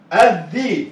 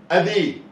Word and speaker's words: الذي: الذي. ذي اهي الذال. ذي غلط كده. غلط ليه؟ غلط يا استاذ لان كده الذال نطقت مره واحده مكسوره. اذي. اذي لا لا لا غلط. نقول ايه؟ الذي ده عليها سكون اهو يا استاذ، عليها سكون. طب السكون ده بقى بنحط